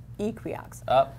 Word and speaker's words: Equioxx: And I talked to a tech services vet from that company, and they pronounce it Equiox, like equine.